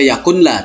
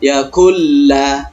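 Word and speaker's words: يكن له: Bukan dibaca yakunla tetapi yakulla. Nun mati langsung masuk kepada huruf la, melebur menjadi satu.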